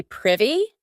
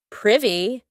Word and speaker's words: privy: To be privy and note that pronunciation not privy privy.